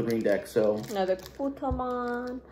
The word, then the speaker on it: Patamon: Another Putomon. Patamon, not Putomon.